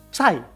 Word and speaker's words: Psy: Kayak mana entah baca PSY, bacanya berarti Psy.